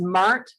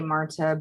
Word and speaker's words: Marthe: Her name is Marthe Cohn. English speakers say Marta, but she says Mart.